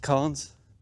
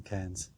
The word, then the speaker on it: cairns: I've heard them pronounced carns. I pronounce them cairns. Take your pick.